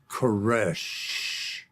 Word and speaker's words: Koresh: He said, then you know how to pronounce my name. He said, it's like that last breath, the death knell. It's Koresh.